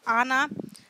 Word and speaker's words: Ana: हम प्रोनाउंस करते हैं इस सिंबल को एज आना, ठीक है।